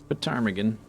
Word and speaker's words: ptarmigan: Do you pronounce the P, ptarmigan? Ptarmigan. Or is it just ptarmigan? Ptarmigan. Ptarmigan. The P is probably silent, right?